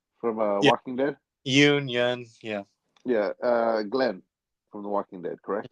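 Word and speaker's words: Yeun: how you say his name from Walking Dead Yun yeah yeah uh Glenn from The Walking Dead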